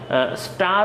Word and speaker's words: stir: অ্যান্ড স্টার well, এই জায়গায় একটু হাইলাইট করা আছে STIR, তোমরা এটার উচ্চারণটাও শিখে নেবে। এটার উচ্চারণটা হচ্ছে স্টার, হ্যাঁ, যদিও STIR কিন্তু উচ্চারণটা কিন্তু স্টার, ছেলেরা একটু খেয়াল করবা।